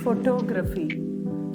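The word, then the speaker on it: photograph: അല്ല ഫോട്ടോഗ്രാഫ് ഫോട്ടോഗ്രാഫ് stress on the first syllable മൂന്ന് syllable ഉണ്ട് മൂന് സ്പ്ലിറ്റ് ഉണ്ട് ആദ്യത്തെ സ്പ്ലിറ്റിനാണ് ആദ്യത്തെ സിലബിളിനാണ് നമ്മൾ കൂടുതൽ സ്ട്രെസ്സ് ചെയ്യുക ഇത് നിങ്ങൾ ഗൂഗിളിലും കേംബ്രിജ്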